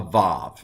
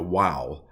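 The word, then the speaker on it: ו: Now, the older pronunciation, maybe even in Bible times, it might have been a wow or a w sound. Modern Hebrew does vav or v, and so I'm going to go with v.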